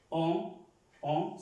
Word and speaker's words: on: Para los que es la primera vez la clase, es una O, se pronuncia una O, pero nasal, no O, sino on, que es para decir